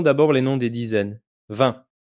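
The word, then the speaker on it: vingt: 20. Le G et le T sont muet.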